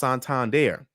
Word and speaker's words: Santander: in uh in Europe okay Santander is actually pronounced santand there and it's actually in uh it's a big